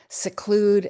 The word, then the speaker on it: seclude: For example, here we have select, which is a schwa, seclude, a schwa, secret, where it's a long vowel, segregate, which is a short vowel, and secede, which again is a schwa.